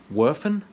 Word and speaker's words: Werfen: It's Austria, but it's pronounced Werfen, W-E-R-F-E-N, I believe.